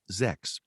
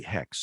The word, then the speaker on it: Xhex: uh hex for instance which is spelled xhex which I pronounced earlier in some novels Zex she said no it's really hex so we changed that